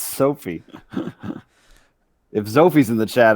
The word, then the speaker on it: Sophie: Not Zophie. It's Sophie.